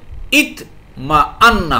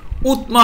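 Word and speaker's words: اطمأن: জের দিয়ে পড়তে হবে তাহলে ইত মা আন্না হবে ইতমা আন্না উতমা হবে না বা আতমা হবে না কি হবে ভাই ইতমা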